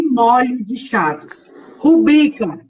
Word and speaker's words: rubrica: Rubrica, e não rúbrica.